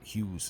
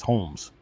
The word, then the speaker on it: Holmes: His name is not Hughes, it's Holmes. Holmes is his name.